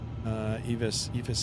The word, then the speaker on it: EFIS: EFIS Aviation is the electronic flight instrument system. That's the correct pronunciation.